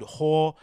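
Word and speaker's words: Hør: And I've seen this guy play a few times on that station called Whore. How do you pronounce it? H-O-R. With the little markings on top of the O.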